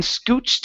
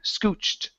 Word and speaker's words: scooched: Okay, let's practice the ed ending here with the ch sound. Then scooched his way over. Scooched.